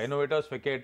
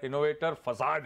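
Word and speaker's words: Innovators Facade: इन्होंने तो सही नाम प्रोनाउंस करा, मैंने तो पहली बार फिकेट नाम प्रोनाउंस करा था, इनोवेटर्स फिकेट, तो सोनम ने मुझे करेक्ट करा था कि इनोवेटर इनोवेटर फसाद है ये।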